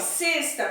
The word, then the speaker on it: sexta: Sexta com o som de E fechado, E é um dia da semana.